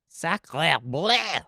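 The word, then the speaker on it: sacré bleu: It's Soc- sacra, Sacre bleu. but it's sac.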